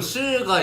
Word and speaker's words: 是: 我是 이거 실가 이 발음이. 근데 잠깐만요. 이게 저 진짜 맞아. 중국어 배웠어요 중학생 때. 근데 27점이어서 내가 발음이 돼. 이 스가 아니고 실. 풀도 아니고 네. 실 이거야.